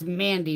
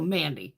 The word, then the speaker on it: MVNDI: It's Mandy makeup, but she spells it MV NDI. It's spelled different, but it's still Mandy. It's M A. Her name is Mandy. So, she has fun with the spellings and like makeup.